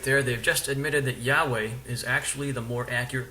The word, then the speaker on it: Yahweh: And second of all, the Watchtower Society is aware that Yahweh is more likely the most accurate pronunciation available of God's name.